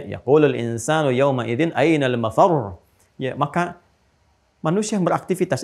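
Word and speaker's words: مفرّ: Ya, ainal mafar. Ada tasdidnya. Makanya bacanya juga bukan mafar. Awas. Ya, bukan mafar.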